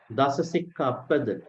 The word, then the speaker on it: Dasasikkhāpada: Some people wrongly pronounce. Dasasikkhāpada, not pada, pada.